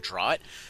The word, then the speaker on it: draught: like like an empowering draught. I've been told to pronounce it draft like a sensible human being, but no, I'm good.